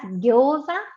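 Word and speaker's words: ギョウザ: Por ejemplo, las empanaditas fritas llamadas gyoza en Japón. Se escribe gyouza. Para el sonido gyo se debe combinar la fila G y con yo pequeña.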